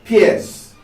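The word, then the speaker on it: PEARCE: And it's called PEARS. It sounds like busting through something to make a way for yourself, but it is spelled slightly differently.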